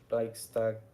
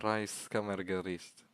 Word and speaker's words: Reichskammergericht: a little thing called the oh the Reich Reichstag. No, not the Reichstag. Um, I need to get the actual name before I either butcher the It's Reichskammergericht.